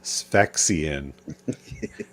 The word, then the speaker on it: Sphexian: Yeah, the Sphexian. Curtis, am I saying it right? You are saying it correct.